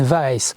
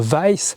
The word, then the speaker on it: Wajs: porortter sur olech and vice ow pour plus de facilité et pour éviter les problèmes de prononciation de wece qui s'écrit W A JS on utilise souvent les